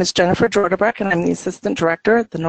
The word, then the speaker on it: Jordebrek: And that's what we have this morning on the line with us, just from right next door in Iowa, is Jennifer Jordebrek. Did I pronounce that correctly?